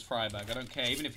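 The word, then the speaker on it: Friberg: was also the argu isn't it like freeberg or something that blows my mind it's fryberg I don't care even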